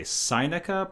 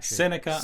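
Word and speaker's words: Sinica: and co-founder of the i'm going to say seineca podcast seneca okay yeah all right well yeah that's okay i i was going based on the pronunciation of sino like sino-american relations or sino-canadian relations but that's cool jeremy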